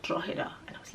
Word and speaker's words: Drogheda: Then they all laugh and they said, oh, this is how you pronounce it. It's called Drogheda.